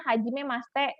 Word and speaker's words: Hajimemashite: itu seperti ini mengatakan hajimemaste high tulisannya Hajimemashite cuma kita bacanya hajimemaste seperti itu Nah ini watashi wa